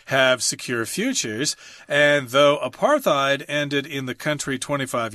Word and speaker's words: apartheid: in South Africa and the D isn't pronounced you're actually saying a T apartheid okay okay fair enough